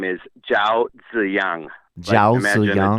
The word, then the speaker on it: Zhao Ziyang: By the way you pronounce his name is Zhao Ziyang. Zhao Imagine a D Ziyang? and a Z. Zhao Ziyang. Imagine a D and a Z next to each other.